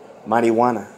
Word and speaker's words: marijuana: it marijuana you know mighty wanna that's what it is that that's how you pronounce it you know it's a